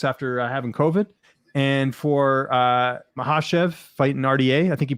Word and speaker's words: Makhachev: I used to say Islam Makhachev. That's how it sounded to me, but apparently it's Makhachev. Even DC calls him Makhachev.